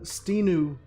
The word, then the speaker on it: Stinu: Can you pronounce again? Stinu, S-T-I-N.